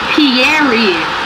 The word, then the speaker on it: Thierry: No, Thierry. Did you call him Thierry? Thierry. He said, no, he said Thierry. Not Pierre, just Thierry. How else are you supposed to say it?